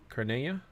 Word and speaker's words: Cernunnos: Fun fact, the true pronunciation of Cernunnos is Carnea, as it is revealed to Alexanders. Oh, that's cool.